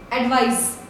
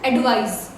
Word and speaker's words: advise: Taking the first one, advice, advise. Mention about the pronunciation. This is S, advice, alright, and this is Z, that is Z. So advice and advise.